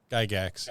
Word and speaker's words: Gygax: Gygax, yeah. Yes. Okay. Gary would go if he heard you mispronounce his name.